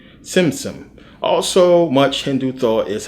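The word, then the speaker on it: Tzimtzum: Simsim, it has a T, but you pronounce it like tsunami. Simsim.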